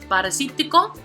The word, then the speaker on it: parasítico: The last one we're going to look is parasítico. which is 5 syllables, so the prosodic accent is going to fall on the 3rd syllable.